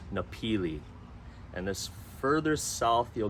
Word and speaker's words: Napili: pronounced Kahana and after that there's napili it's pronounced nepili and this further south you'll get is Kapalua